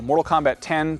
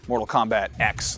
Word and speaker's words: Mortal Kombat X: I know I know Mortal Kombat 10 technically Roman numerals and all that but I guess Ed Boon actually stated officially that it is going to be pronounced Mortal Kombat X like the letter uh his trailer showed